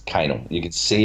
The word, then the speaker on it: Kanal: It's not Kanal. It's Kanal.